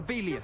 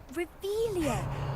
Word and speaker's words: Revelio: You're Revelius. saying it wrong. Ugh, Revelio. Much better.